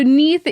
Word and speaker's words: Neith: It's spelled like Keith, but with an N instead of a K, which I really like. I'm just like, Keith. That's great. So Neith is the mother of